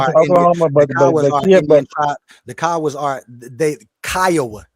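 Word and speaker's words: Kiowa: That the Oklahoma The Kawas are they Kya, not Kioa.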